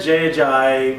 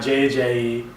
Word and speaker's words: Jay Ajayi: He said Jay Ajayi, not JJE.